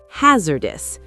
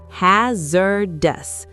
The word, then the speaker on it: hazardous: Hazardous. Three syllables. Notice the Z sound. Hazardous.